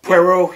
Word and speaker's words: Poirot: Poirot.